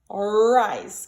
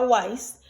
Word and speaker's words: rice: Rice qui c'est avec R-I-C-E. Si? Rice. Bon, nous-mêmes, parfois, nous entendons des gens prononcer comme wise. Donc, W-I. C'est pas wise, c'est rice.